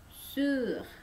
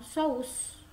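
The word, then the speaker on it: sous: O dengan u dibacanya u. Ya, enggak usah pakai monyong, ya. Su. Ya, su. S tidak dibaca. Bukan saus. Bukan saus ya, perhatikan.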